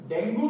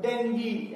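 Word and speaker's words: dengue: डेंगू रोग जो है डेंगी, एक्चुअल में द प्रोनंसिएशन इज डेंगी, वो डेंगू हम लोग हिंदी में लिख देते हैं।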